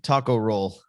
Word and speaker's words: Takaro: I don't want to mispronounce, but Takaro. Yeah, Takaro. Takaro. See, I'll mispronounce. Like, I always tell people, think of like Mexican sushi, taco roll.